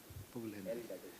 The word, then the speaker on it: Pugalindi: Pugalindi.